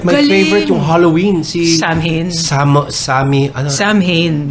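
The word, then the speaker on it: Samhain: Si Sam Hain. Sam Hain. How do you pronounce the... Sowan. Pero the spelling is Sam Hain.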